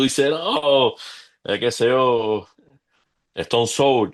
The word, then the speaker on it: Stone Sour: Entonces, tú dices, "No, qué sé yo, Stone Soul." Y no es stone S, es stone so y qué sé yo.